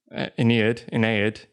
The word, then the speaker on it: Aeneid: It's the Iliad is the Trojan War, which I also mentioned, talking about the Aeneid, I think it's pronounced. I also mispronounced that last episode.